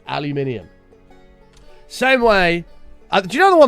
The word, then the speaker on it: aluminium: like Americans pronounce it uh aluminum, but it's not that. It's aluminium.